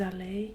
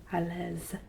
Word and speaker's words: allez: Vous allez bien. Remember that EZ and ER are both noises that sound like A. Vous allez bien. It's not à l'aise. There's no Z pronounced.